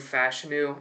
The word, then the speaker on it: Fashanu: It's going to be Olu Fashanu out of Penn State. It is pronounced Fashanu, by the way. Olu said it himself, so for everyone's saying, it's Fashanu, it's not. But they desperately need help at tackle, the Saints do.